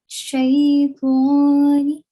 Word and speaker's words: Shaytani: This letter, to, is a thick letter, the tafkhim letter. Okay, so you have to sound it and you have to pronounce it with a thick sound. Shaytani.